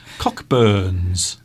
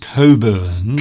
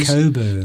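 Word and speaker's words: Cockburn's: this is Cockburns. although it's pronounced.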